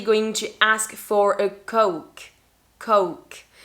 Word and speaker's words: Coke: But in English, we're actually going to ask for a Coke. Coke. And be careful with the pronunciation. You don't want to say cock because that's something else.